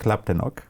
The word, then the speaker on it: Laptenok: Vitalik Laptenok. Did I pronounce it correctly?